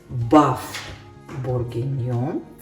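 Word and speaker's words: bœuf bourguignon: Кстати, французы говорят баф бургиньон. Не произносят «н» на конце. И вместо биф говорят баф. Так что правильное название это баф бургиньон.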